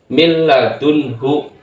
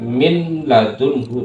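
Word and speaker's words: مِنْ لَدُنْهُ: idgham bila bilaguna dilapurkan milladunhu Jangan dibaca minadunhu Salah bacaannya adalah milladunhu milladunhu nunnya ini dilburkan nunnya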